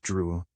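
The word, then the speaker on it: Drouet: and touching his name it's pronounced drew our family was French on my father's side she looked at it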